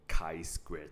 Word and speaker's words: chi-square: We'll be looking at something called the chi-square test. Okay, it's read as chi-square, right? Not chi-square. So as bio students, please know how to pronounce this.